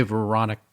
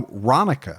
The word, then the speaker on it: Ronica: Hey, Veronica. Did you say Veronica? No, Ronica.